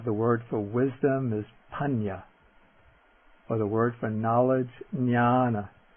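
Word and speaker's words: paññā: top of it is pronounced like an ny like the n in canyon or like the n in onion for example we have the word for wisdom is panya or the word for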